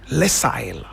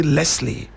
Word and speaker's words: Lisle: You could pronounce it Lesile. If you want, you can also say Leslie, depending on what kind of tongue you have.